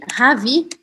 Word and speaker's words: ravi: E aí, ravi pode ou não ter um e no final. Se for, um e, se for masculino sem o e, a pronúncia é idêntica.